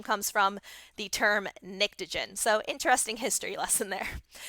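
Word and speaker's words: pnictogen: all right so um much like the word pterodactyl the p is silent so that's how you say that nictogen and nixogen is actually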